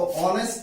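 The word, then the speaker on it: honest: तो ऑनेस्ट के पहले यहां पर एक साइलेंट हो जाता है और इसको हम पढ़ते हैं ऑनेस्ट।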